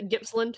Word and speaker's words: Gippsland: Yeah, Gippsland.